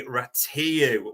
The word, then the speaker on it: Rațiu: And the starting point is, and just to give you an idea, I think Bart's called him Ratatouille either, but his official name is Andre Ratu when you go on to Spanish pronunciation site.